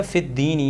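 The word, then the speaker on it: فِي الدِّينِ: Next हमारे पास ये जो लफ्ज़ है अद्दीनी, ठीक है, फ़िद्दीनी, ये जो ये लफ्ज़ है फ़ी के बाद, इसको आप गौर करोगे यहाँ पर अल साइलेंट है और दाल पर तशदीद है।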